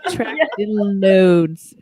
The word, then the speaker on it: Atractylodes: Attractilodes.